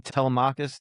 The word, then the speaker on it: Telemachus: It's actually more about, I don't know how to pronounce these names. Is his son's name Telemachus? Yep. Telemic?